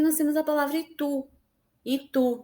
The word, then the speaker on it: Itu: Itu, nós percebemos que o tu é mais forte, por isso que ela é uma oxítona. Se fosse o i, seria ito, mas a gente pronuncia itu.